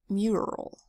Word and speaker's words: mural: it out it's spelled mu r a l this word is pronounced mural where the U is making more of a long u sound you um mural